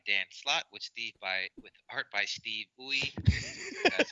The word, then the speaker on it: Steve Uy: Yes, we've got Avengers The Initiative, issue 6, written by Dan Slott with art by Steve Uy. That's how you pronounce it.